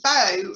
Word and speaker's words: Beau: that yeah so um beau started our um she's she's our beautiful mind champion and her name is spelt b-e-a-u so obviously that's beautiful and beautiful my champion i've known bo for an awful long